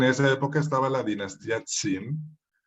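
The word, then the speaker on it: 秦: Esto se escribe así en el alfabeto fonético chino y se lee Qin, es un segundo tono, Qin.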